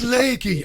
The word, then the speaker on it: Lakey: I think it's Lakey or Laki. How do I pronounce it? Welcome to the programme. Thank you, Richie. It's so great to be here. It's Lakey.